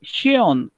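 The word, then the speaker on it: schön: और शियोन, शियोन प्रोनाउंस भी कैसे क्या, देखो शोन नहीं शियोन, पहले कैसा है? शोन, शोन शियोन. शियोन means beautiful, right?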